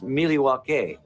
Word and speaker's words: Milwaukee: Actually, it's pronounced Milwaukee, which is Algonquin for the good land.